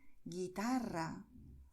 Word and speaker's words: guitarra: importante, que es que si una palabra termina en vocal N o S, acentuamos la penúltima sílaba. Da igual lo larga que sea la palabra. Si vemos vocal N o S, al final acentuamos no la última sílaba, pero la penúltima, ¿vale? Es lo que ocurre en guitarra, volumen, crisis.